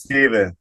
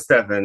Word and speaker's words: Stephen: some people say Stephen some people say Stefan everybody says Stephen it's spelled the same right but you like Ste you like Stefan well my name is Stefan that's what I was told all right I'm just